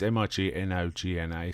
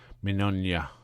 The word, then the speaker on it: Mignogna: And Vic, I'm not quite sure how to pronounce this. It's Mignogna, so we're going to say Vic Mignogna.